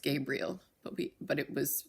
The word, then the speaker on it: Gabrielle: but we would have pronounced it well it's pronounced Gabriel but we but it was spelled Gabriel Ally